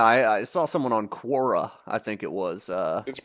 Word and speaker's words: Quora: see where you get I mean yeah I I saw someone on Quora I think it was uh it's pronounced Kora like the [